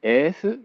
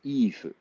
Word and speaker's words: Iifu: People who know how to pronounce Japanese probably like, is it Efu? No, it's Ifu.